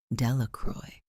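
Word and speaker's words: Delacroix: and Harry Jones and Dicky delaqua the villagers pronounced this name Delroy eventually made a great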